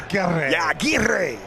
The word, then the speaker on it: Aira: I love the way the pronunciation got a tell you got to roll the R Aira ironically from Fagville, Georgia.